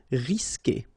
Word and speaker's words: risquer: like E, for instance, you will always need to put this U here between the two, but then you don't pronounce it. So the sound you will get here, for instance, is que. Okay, you don't pronounce the U, so risquer.